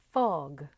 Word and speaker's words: fog: 제대로 발음을 하려면 포그 대신에 확실히 F를 물어주셔서 fog, 그리고 드리즐 대신에 R 발음을 제대로 넣어주셔서 drizzle 이렇게 하셔야 정확한 발음이 되죠.